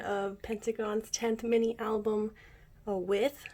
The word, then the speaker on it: WE:TH: I'm doing an unboxing of Pentagon's 10th mini album, With. It's actually pronounced with, not with. I'm really glad it's pronounced like that because with sounds really weird.